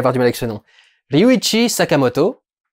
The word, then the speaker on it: Sakamoto: une élection les witches sakamoto c'est comme ça que se prononce avec son sergent araki